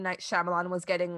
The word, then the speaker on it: Shyamalan: Night Shyamalan was getting like he wasn't getting the proper reviews he deserved, but I don't know.